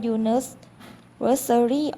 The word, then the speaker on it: university: ตัว เลือก B เพราะ คำ ว่า unary ออก เสียง ขึ้น ต้น ด้วย เสียง J ซึ่ง เป็น เสียง พยัญชนะ ไม่ ใช่ เสียง สระ ดัง นั้น จึง จึง